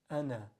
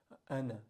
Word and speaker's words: أَنَا: So here, Hamza Fatha A, Nun Fatha Alif Sukun Na, Ana. That circle on top is telling you if you stop on this word, you pronounce the alif.